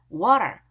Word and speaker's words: water: Water, water. T가 모음과 모음 사이에 R까지 발음 나요.